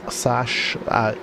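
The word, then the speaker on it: Sachs: This is turn 11, which is Mobile 1 corner, into turn number 12, which I believe is pronounced Sash.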